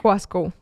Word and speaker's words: Coiscou: me he desentendido totalmente es como la gente pronuncia mi apellido eso estoy desapegada de esa emoción pero es coasco ya lo Yo realmente tenía planeado para que